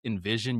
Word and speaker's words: NVZN: So, it's actually pronounced Envision. You can say it the way it looks.